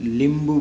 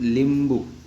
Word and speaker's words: लिंबू: नींबू सिर्फ प्रोनाउंसिएशन और थोड़ा वर्ड न और ल। नींबू हिंदी में बोला जाता है। मराठी में लिंबू बोला जाता है। क्या बोला जाता है? लिंबू।